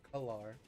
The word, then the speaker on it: Kalar: How do you say your name again? Kaelar. Kalar. Kalar. I've been Okay. saying it so wrong, and I apologize. It's Kalar.